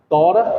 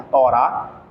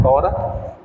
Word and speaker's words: Torá: era a Torá né tora que é o nome a pronúncia adequada tora mas alguns colocam agudo no ar aí fica Torá mas o o a forma original de se falar é tora a os escritos isso